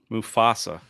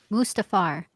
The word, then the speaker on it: Mufasa: hill member for 19 months jay can you pronounce simba's father's name mufasa mustafar what'd you say on your stream mustafa no you said mafusa mafusa that's what i said i was like